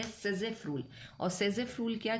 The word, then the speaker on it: Saytzeff: तो हमने last class में एक रूल समझा था, सेजेफ रूल। फिर से उसी रूल की बात होगी। SAYTZEFF' और सेजेफ रूल आ रहा है, राइट। टी इसमें साइलेंट है, सेजेफ रूल।